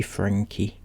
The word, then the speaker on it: Franke: one and only ruby frankie i'm pretty sure it's pronounced frankie could be frank but i'm sure she said it's frankie so we're going with frankie she is the one